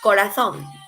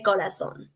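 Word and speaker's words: corazón: that is el corazon remember in some parts like spain they would pronounce and this word different because the z sound that is corazon but in here in mexico we say kolason okay all of them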